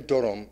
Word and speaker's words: Dodom: Because Dodom is how you say it there.